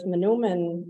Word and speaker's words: Manoomin: Joel here is uh with manuman um and you'll hear us pronounce it differently too many menomon it's kind of like tomato tomato um but with us